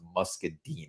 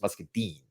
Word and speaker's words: muscadine: to be like dude you mispronounced muscadine it's muscadine not muscadine I keep saying muscadine my bad uh so